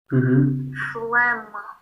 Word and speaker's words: phlegm: Phlegm. Phlegm? Yeah, I don't really know why the G is silent.